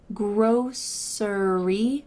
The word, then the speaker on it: grocery: or a personal preference you can say grossery with an S sound in the middle grocery gross but for